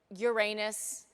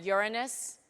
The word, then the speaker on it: Uranus: and uranus i mean do people ever pronounce that planet uranus or no yeah when you're when you're older than eight years old yeah you pronounce it uranus yes it's not called uranus definitely not when you're giving a talk to eight-year-olds until you're eight years old yeah it's uranus but after that is uranus sometimes you're never corrected